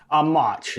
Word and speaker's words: Mauch: Is it pronounced Mach? Mauch? Mauch, Mauch.